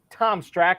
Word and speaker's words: Tom Strachan: at NFL underscore t-strack it is the incomparable Tom's track and Tom welcome in man thanks for having me and I truly appreciate you pronouncing my name right that's one which a